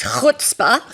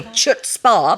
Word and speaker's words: chutzpah: And there's a word in Yiddish, and I can pronounce it properly, which is chutzpah. Some people say chutzpah, but that's not how you pronounce it.